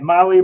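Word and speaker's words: Mahle: For our podcast listeners, Molly is spelled M-A-H-L-E.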